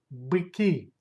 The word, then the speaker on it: быки: Plural быки. Быки. Stress goes to last syllable.